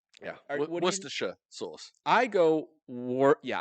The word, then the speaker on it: Worcestershire: think it is because it's like Gloucester Worcester shirt yeah Worcestershire okay yeah there's this